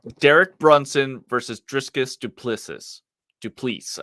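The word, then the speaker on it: Du Plessis: Brunson versus driskus duplicis du please I believe it's pronounced yes I actually know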